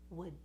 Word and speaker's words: would: And you see my tongue doesn't go down. I'm not releasing would. I'm just saying would. And the tongue stays there resting. So that's how we pronounce the word would.